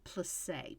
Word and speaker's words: plissé: This one is called plissé, Plisse, with a little accent on it.